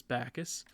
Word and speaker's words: Backus: I was told it's pronounced as Backus, obviously.